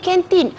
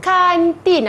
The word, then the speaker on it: kantin: Kantin tu sebutan dalam bahasa Inggeris. Okey. Kalau kita sebut dalam bahasa Melayu yang betul, kantin. Semua sebut? Kantin. Yelah, cikgu, ejaannya pun K-A-N. Kan. Bunyi A. Jadi sebutan dia kantin.